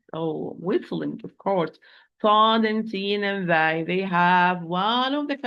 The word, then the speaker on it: ص: They are the end of the tip, end of the tip, with the bottom of the lower central incisors from inside.